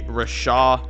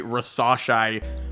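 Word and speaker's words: Risacher: have them taking Zachary Rasha hold on scratch that I definitely mispronounced his name Zachary rase I should say again there's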